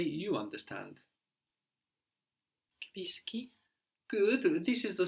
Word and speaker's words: capisci: Because when we have SCI or SCE, we get a sh sound.